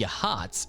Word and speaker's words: Yachats: 101 The artistic and thriving village of Yachats (pronounced YAH-hots) has no commercial development to speak of, but who would want to trade with such a beach?